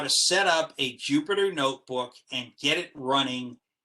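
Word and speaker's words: Jupyter: tries to pronounce it it's jupiter like the planet it's all open source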